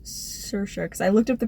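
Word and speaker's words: Saoirse: pronounce it sure I always thought it was like saucy I think it's sir sure because I looked up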